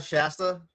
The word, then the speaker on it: Shasta: It It's like the old um uh Soda Shasta.